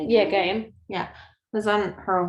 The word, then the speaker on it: Gaiam: Yeah, Gaiam.